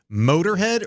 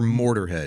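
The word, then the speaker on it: Motörhead: Motorhead or Mortarhead?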